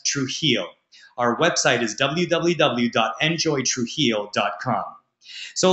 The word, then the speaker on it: Trujillo: It's going to take you some time to learn how to say it and pronounce it, but it's Trujillo. That's Trujillo.